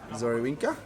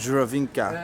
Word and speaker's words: Żurawinka: Michał recommended we get this one right here, called Zorawinka. Is that how you say it? Żurawinka. Zurawinka. Yeah. And the Z with the dot is Ż. Ż. Yeah, exactly. Żurawinka. We will get Żurawinka.